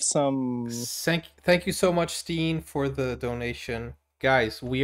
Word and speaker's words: Steen: Steen is the right way to say. Yes. Yeah. Steen. I used to say Stein, but Steen is the right way.